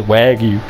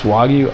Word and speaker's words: wagyu: some water why you is that how you say it i always say wag you wag wag you it's wagyu all right in any case